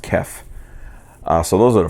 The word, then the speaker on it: KEF: Kef also, I think it's pronounced Kef.